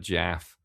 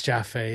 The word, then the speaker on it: Jaffe: I don't know the Jaffes. Yeah, it's Robert Jaff. Is it Jaffe? It's Jaffe.